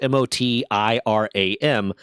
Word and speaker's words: Motiram: This game is called Light of Motiram, I don't know how to say it. It's Motiram.